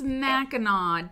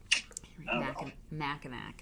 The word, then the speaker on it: Mackinac: at all it is isn't that weird Michigan thing where you you say it like it's not spelled yes it's Mackinaw damn it I feel